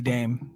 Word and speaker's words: Dame: then you saw Izzy Dame come out and she Russell Jordan and I you know what I I made the joke is he lame I made that I her name just rhymes with lame and I thought it